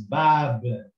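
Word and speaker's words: باب: Now here we have ba again in the beginning of a word, so it is half size, and it is got fatha, and it got an alif afterwards, a vowel that elongates the fatha. So we read this as ba, and then the ba afterwards is silent. It doesn't have any sign. So we read it as bab.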